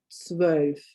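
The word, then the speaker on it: zwölf: omelette we've already had is the letter 12 which is swove 12. yes you've got your sound in that 12.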